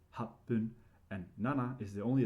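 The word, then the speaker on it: 八分: in roku and hachi, you only pronounce the first syllable and it's with pun, right? So it's ipun 1 minute, roku is ropun, and hachi is hapun, and nana is the only exception with two syllables, it's nanafun.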